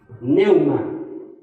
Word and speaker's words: pneuma: alma cuerpo y espíritu Espíritu se dice pneuma va con p pneuma medio difícil de pronunciarlo